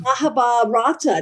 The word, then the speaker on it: Mahabharata: Of the Mahabharata. Did I pronounce it correctly? Mahabharata Yes, you did.